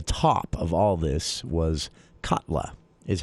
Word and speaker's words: Katla: the winner the top of all this was katla is how it's pronounced K A and this is actually set